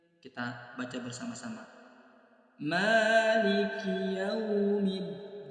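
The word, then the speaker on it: مَالِكِ يَوْمِ الدِّينِ: Di ayat yang keempat, perhatikan di huruf mim ada tanda alif kecil atau fathah berdiri, menandakan bacaannya dibaca panjang 2 harokat. Kesalahan yang sering terjadi, panjangnya itu berlebihan, maka jangan sampai lebih dari 2 harokat, hanya 1 ayunan atau 2 harokat.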